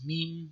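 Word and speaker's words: ميم: you can't say much the name is meme the pronunciation is like an m so you have the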